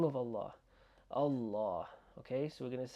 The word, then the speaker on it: Allah: This is the thing that I want to just emphasize, the a sound.